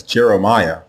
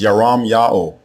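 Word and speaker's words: ירמיהו: The way you say his name is Yaram Ya'o, Yaram Ya'o, and the meaning is Ya'o will lift.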